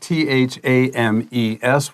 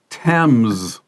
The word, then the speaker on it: Thames: Today's lesson is called Cleaning the River Thames with Robot Sharks. I thought Thames was pronounced Thames. Of course, my teacher, that is Thames. It doesn't look anything like the way it's spelled.